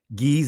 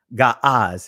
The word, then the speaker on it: Ge'ez: Ge'ez is not a proper pronunciation of the ancient language because they did not have E sounds.